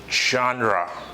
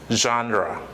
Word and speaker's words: genre: it appears to you Gendry engineer no it genre again genre and you know the meaning of that it's